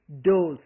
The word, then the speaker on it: does: So, suddenly we are not saying does, we say does.